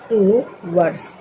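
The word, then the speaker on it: towards: ड एस से स टू वर्ड्स टू वर्ड्स मतलब होता है की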